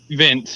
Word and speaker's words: Vinc: But elsewhere on the fight card, how do you say it? Vince Pichel, or is it Vink Pichel? Vince, yeah. Yeah, Vince.